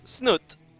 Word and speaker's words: Snute: It is Snute. Or, as the one guy on Twitter really wants me to pronounce it, Snute.